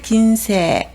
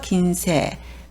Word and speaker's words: 近世: 근세를 긴세, 이럴 때는 길게 읽으시면 되죠. 긴세.